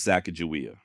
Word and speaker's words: Sacagawea: name or more specifically how to properly say it like many of you I've always thought it was sakaia then I don't know